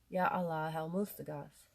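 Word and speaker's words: Yá Alláh al-Mustagháth: And my friends told me that you pronounce the H here, Yah Allah El Mustagath.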